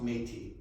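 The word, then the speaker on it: Métis: a lot here so i'm sorry but it's pronounced metis and that's that's i i've heard some interesting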